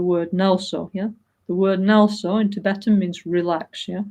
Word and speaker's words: NgalSo: The word NgalSo in Tibetan means relax, yeah? Okay? It's got 2 syllables like the English word relax, yeah?